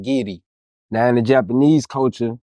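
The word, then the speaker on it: giri: one principle called gidy and it's gidy and you and you spell it g i r i I don't know why they pronounce it gidy now in the Japanese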